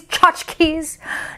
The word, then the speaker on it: tchotchkes: the charging tsunami washed away all of tchaikovsky's tchotchkes not all of tchaikovsky's choc cheese tchaikovsky great